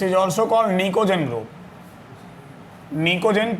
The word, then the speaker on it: निकोजेन: निकोजेन P silent रहता है बिल्कुल तुम लोग की तरह, ठीक है।